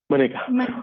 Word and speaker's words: Manika: Am I saying it right? Monica or Manika? Manika.